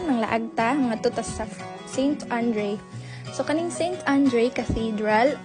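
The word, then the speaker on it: Saint-André: So karon mga laagta, mga tutas sa Saint Andre. So kaning Saint Andre Cathedral or Sant Andre. So mao na sila ang pagka-pronounce diri Sant Andre.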